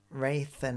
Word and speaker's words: Rathan: Rathan like Nathan, but with Rayons.